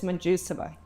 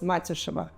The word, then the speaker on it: Matjuseva: If you say it in English, it's Majusova. Majusova. Yes. And in Latvian? If you say it in Latvian or Russian, we have different sounds. It sounds as Matushova because we have soft U and ash sound letter,